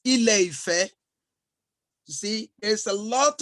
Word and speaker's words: Ile-Ife: In fact, it's not Ile-Ife, it's Ile-Ife.